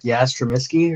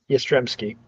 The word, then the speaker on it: Yastrzemski: Isn't it like Yastrzemski or something? Yastrzemski.